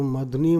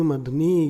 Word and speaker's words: मधुनी: तो धा में जो है ह्रस्व की मात्रा और ना में दीर्घ ई की मात्रा है। तो मधुनी मधुनी ये जो है मधुनी मधुनी ये उच्चारण में ध्यान दीजिएगा। मधुनी धा में ह्रस्व और ना में दीर्घ मधुनी है, मधुनी।